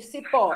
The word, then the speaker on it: cipó: Qual é a sílaba forte de cipó? É a última. É o pó.